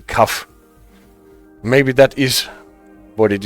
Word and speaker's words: CAF: And Lofty says, I think I've always seen CAF pronounced with one syllable, CAF.